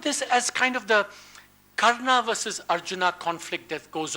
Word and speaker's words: Karna: is going to be a South Indian this pronunciation of all the characters in the Mahabharata I don't say karna which I probably should but I say Cardinal